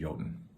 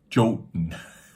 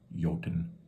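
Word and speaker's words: jötunn: Land of the Giants joten jenim Yen Yen uh again just pronouncing it like a J in English so the AI doesn't can't really get some uh some of that Nuance down yoten and it doesn't take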